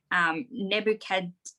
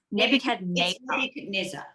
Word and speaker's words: Nebuchadnezzar: So it's the time of this Babylonian king whose name I did work out how to pronounce is Nebuchadnezzar. Nebuchadnezzar.